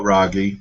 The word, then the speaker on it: Raghee: charts and your website I read your bio ragy and I believe I'm pronouncing your first name correctly you are absolutely